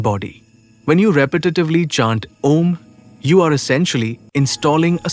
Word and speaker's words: Om: Its pronunciation a U m engages your entire vocal apparatus from the back of the throat to the closed lips, creating a vibrant resonance throughout your skull and body.